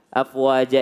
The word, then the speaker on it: أَفْوَاجًا: Jadi kalau jim huruf ja, afwaja itu tidak usah yang namanya pakai desis. Jadi huruf jim itu tidak berdesis, Bu.